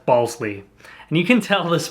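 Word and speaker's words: Balsillie: his name out and it looks like ball silly the way that it's spelled out and so she questions him she says ball silly and he immediately firmly just says balsley and you can tell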